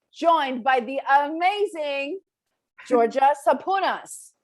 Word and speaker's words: Sapounas: we're here today joined by the amazing georgia saponas right am i pronouncing that correctly georgia you're so close yeah oh yeah 100 georgia saponis you got it you're just a bonus i